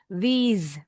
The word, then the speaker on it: these: Nah, these bacanya these s-nya seperti Z.